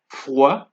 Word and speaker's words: froid: Note that it's not froide nor chaude. It is froid, chaud, d'accord. As you can see, the D at the end of the word are not pronounced.